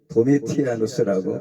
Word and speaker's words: 도미티아누스: 요한계시록은 요한 사도가 로마 황제 도미시안 재위 기간은 AD 81년부터 96년까지 제의한 로마 황제 때에 도미티아누스라고 발음을 합니다.